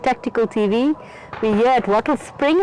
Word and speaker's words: Wattlespring: We're here at Wattlespring, and I'm saying it correctly again. I'm not saying Wattle Springs.